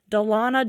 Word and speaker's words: Delana: I found her on Facebook, and you know how Facebook you can do like your pronunciation? Yeah. Hers said DE-LAN-A.